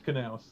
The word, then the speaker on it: Knauss: Tom, am I pronouncing this correctly? Knauss? no, it's Knauss.